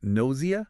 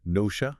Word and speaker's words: nausea: This one can be tricky because it actually has a couple of accepted pronunciations which doesn't help, but generally it's pronounced as nosia or sometimes nosha.